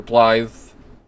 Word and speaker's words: Blythe: Blythe is apparently, or Blythe, as it's pronounced, is apparently Welsh for wolf, so his name is just Wolf the half-wolf, which I think is fucking hilarious.